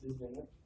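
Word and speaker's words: listwaenite: Ça, c'est peut-être le plus classique, lisvenite, L-I-S-T-W-A-E-N-I-T-E. Ça peut s'écrire aussi comme ça se prononce, lisvenite.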